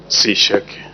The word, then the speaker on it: Sisheke: Sisheke. That's the exactly correct pronunciation.